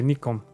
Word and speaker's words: Nikon: So you pronounce it the Japanese way, Nikon.